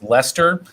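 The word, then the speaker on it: Leicester: to play i know i learned how to pronounce lester and and and lancaster of course uh appropriately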